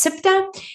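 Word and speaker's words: Ceuta: Okay, this one here, it's actually pronounced SIPTA, and that is a territory of Spain in the geographic country of Morocco.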